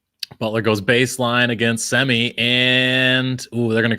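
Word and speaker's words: Semi: __ ] I used that's how you say it like there's an H in there it's a it's a loud eh instead of a silent H like steve buscemi Oh Joely yes schemey like you got a Hemi but it's gotten SH it's got an ass at the front of it bucket ninja has joined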